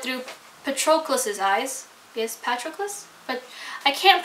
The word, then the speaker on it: Patroclus: us follow it through Patrol closes eyes yes Patroclus but I can't pronounce it and you think I would know